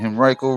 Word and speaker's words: Henrico: Exactly, in Henrico, Virginia. That's how you say it, Henrico.